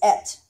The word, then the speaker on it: את: And that word is et. It's spelled with an aleph, and then it has a vowel marker on it to make sure you have the eh sound instead of the ah sound.